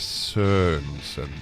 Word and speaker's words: Sørensen: Rachel WILLIS SØRENSEN.